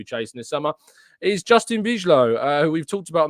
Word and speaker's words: Bijlow: Rich says, Tom, it's pronounced Bijlow.